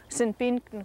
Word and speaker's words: Sinpinkton: meaning to me, like the name of this area here, Sinpinkton, which Penticton, the city over there, is sort of, it's the same word, but it's anglicized in pronunciation.